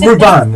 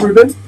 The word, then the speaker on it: Rubin: So because it's Ruban, right? No, it's Rubin. You said it right. Oh, Rubin. Yeah.